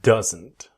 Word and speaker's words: doesn't: The D is silent. It disappears. So we want that strong N. Doesn't doesn't. And it will connect with the next verb.